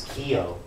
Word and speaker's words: Keogh: For example, my last name is Keogh, but it has a very strange spelling, Keogh. Right, but the GH is silent.